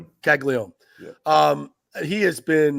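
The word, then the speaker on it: Caglianone: How do you pronounce his last name? Caglione.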